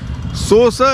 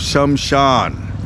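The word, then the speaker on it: श्मशान: Sosa Lake was see Sosa Sosa is a mispronunciation of shamshan she was the go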